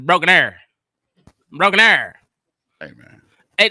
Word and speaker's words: Broken Arrow: It's not Broken Arrow. It's Broken Arrow.